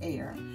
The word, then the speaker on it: Ayr: have not tried air as you can see it's Ayr but it's pronounced it's like air that's I was pronounced air if you have not